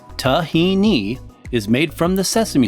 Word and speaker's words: tahini: Tahini, pronounced tahini, is made from the sesame seed and contains a very high amount of oil content.